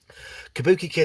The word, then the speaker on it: Kabuki Kid: Kabuki Kid, I hope you only giggle at it when it's pronounced correctly with an A sound instead of an O sound.